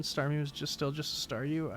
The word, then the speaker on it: Staryu: was still just a Staryu, I could never pronounce its name right. It always ended up like saw you.